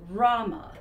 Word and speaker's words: Roma: say that anymore okay they like to be called Roma it's pronounced Rama oh I am so